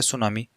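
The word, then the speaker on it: tsunami: ए article लगाएंगे देखो ये जो सुनामी होता है इसमें टी साइलेंट रहता है उच्चारण यहां से स्टार्ट होता है सुनामी ठीक है नेक्स्ट है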